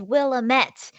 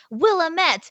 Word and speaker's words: Willamette: just want to say apparently i had been pronouncing the name of this newspaper wrong for my entire video and they're like it's willamette willamette which fine guys if